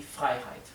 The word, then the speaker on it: Freiheit: Die Freiheit. Die Freiheit es la libertad. La libertad. Die Freiheit. La sílaba EI se pronuncia I en alemán.